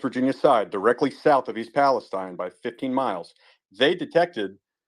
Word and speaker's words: East Palestine: that stuff came from East Palestine I'm sorry East Palestine it's pronounced Steen not Stein stuff came from East Palestine 15 miles down through